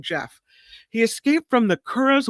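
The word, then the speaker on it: Gef: His name is I want to say Jeff, but it's spelled G E F. So, GE or Jeff. I'm saying Jeff.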